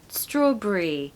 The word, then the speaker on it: strawberry: one strawberry strawberry now in British English we are going to pronounce this not as Berry it's not completely wrong to say strawberry of course but what you will hear is people saying strawberry Brie like the cheese the French cheese Brie that seems to